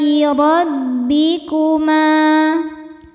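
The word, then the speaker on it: رَبِّكُمَا: Alaai rabbikuma. Huruf ra dibaca secara tafkhim karena berharakat fathah. Cara bacanya ditebalkan. Rabbikuma.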